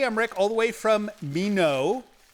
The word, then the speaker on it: Minot: I'm Emmerich, all the way from Mino. Rhymes with why not.